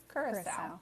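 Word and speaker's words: Curaçao: Oh, KDO says it's Curacao? Curacao. Okay.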